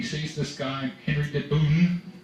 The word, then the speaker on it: Bohun: He sees this guy, Henry de Bohun, that's Bohun, that's the way they pronounced it, and he rides out, and he sees the guy advancing on him.